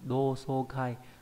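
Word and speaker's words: 同窓会: Âm ôn đọc là so, trong từ do so kai đồng song hội là họp lớp.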